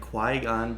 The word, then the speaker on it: Qui-Gon: the sheer audacity to pronounce it Qui-Gon Jinn in quigong there's no way gone there's not even